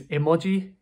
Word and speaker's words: emoji: The next word is emoji. Emoji. Now this is taken directly from Japanese. In Japanese it's emoji, emoji.